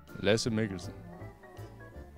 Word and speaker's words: Lasse Mikkelsen: Wie wird dein Name richtig ausgesprochen? Lasse Mikkelsen.